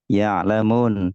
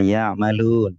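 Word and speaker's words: يعلمون: Misalnya ada kata ya'lamun, jangan sampai terbaca ya'malun.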